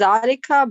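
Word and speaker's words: ذٰلِكَ: Note, zalik is pronounced zalika, but it is written without alif.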